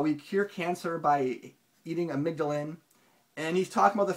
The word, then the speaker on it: amygdalin: by by insufficient consumption of here's how you pronounce it hang on amygdalin amygdalin okay so according to the author of jaal